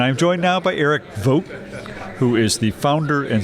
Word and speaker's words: Voogt: it's vo GT and it's pronounced vote in like you vote in an election how however it's dut